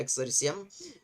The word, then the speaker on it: XRISM: Миссия по рентгеновской визуализации и спектроскопии XRISM произносится как, ну, в общем-то, да, XRISM, ранее известная как миссия по восстановлению рентгеновской астрономии XARM.